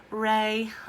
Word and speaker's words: re: like a sunshine Wraith like the little beams that are coming out of the Sun called ray but this one is actually spelled are e doe a deer a female deer ray a drop of Golden